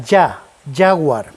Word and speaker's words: Jaguar: es el fabricante del jaguar en todos los idiomas se pronuncia ya howard porque sólo en español decimos jaguar porque la jota gutural la hemos heredado de los árabes y los idiomas del